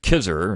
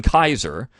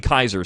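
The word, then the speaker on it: Kizer: kaiser's name and i mispronounce it i pronoun mispronounce it kisser and i don't know what i was thinking but it's gene kaiser and we have another book review in a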